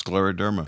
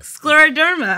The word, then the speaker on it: scleroderma: just mentioned who passed away and excuse my pronunciation scleroderma derma you're there it's scleroderma scleroderma i finally got something right um research foundation